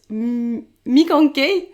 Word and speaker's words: Mikankey: Et aujourd'hui, pour ce premier épisode depuis très longtemps, j'accueille Clémentine, alias Mikanki. C'est ça. Yes, j'ai bien prononcé.